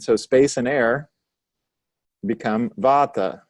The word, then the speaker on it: Vata: space and air become Vata you can say it bata and when you hear that word Vata just remember it means